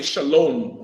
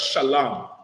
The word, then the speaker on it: shalom: to pronounce the words that's why they say shalom with the O M instead of shalam is sha la in when you read the Bible you'll see sha la and Ma the